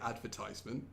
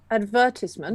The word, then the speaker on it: advertisement: not it's right okay so in America they say advertisement how do we say in British English advertisement that's correct I think that's the